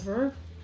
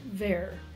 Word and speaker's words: ver: Last we have ver. So on to the ver. Rhymes with bear, not fur.